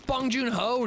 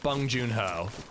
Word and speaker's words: Bong Joon-ho: It's Bong Joon-ho, dude.